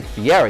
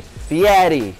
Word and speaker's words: Fieri: hear people say fieri what's the right way to say this spaghetti so you don't just say fiera you say fiatty so you use your